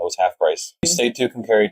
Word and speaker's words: Tucumcari: then we dropped into Tucumcari. Yes, which rhymes with Schoharie. Yes. Not Kari. No. Not Kari. So Tuesday was the day we went through 4 states. And Tucumcari is where we were